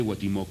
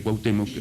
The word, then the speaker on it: Cuauhtémoc: escribe la profecía de guatimoc o sea cuauhtemoc no no estaba todavía seguíamos bajo la tiranía de madrid y como los españoles no podían pronunciar cuauhtémoc a lo más que lo habían asimilado el agua timo que